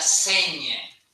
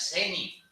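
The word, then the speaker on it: seny: con la lengua precisamente, pues a veces pronunciamos la NI como NI, ¿sabes qué es ñ? No es seni.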